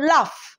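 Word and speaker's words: laugh: নাও এল এ ইউ যেই আমরা লাস্টে ফ উচ্চারণ করবো লাফ ফ তখন আমার কি হচ্ছে জি এইচ এল এ ইউ জি এইচ লাফ ঠিক আছে এইভাবে বানানগুলো মনে রাখতে হবে টাফ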